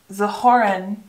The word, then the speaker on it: zuhören: Zuhören. Zuhören. A little better. We have the ö again. Zuhören. The first syllable, perfect. Zu. Zuhören. Hören.